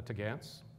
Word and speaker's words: topgallant: They're taking in the Tagants. That's how you pronounce topgallant, Tagants.